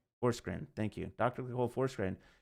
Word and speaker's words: Forsgren: Pronounce her last name. I always get it wrong. Forsgren.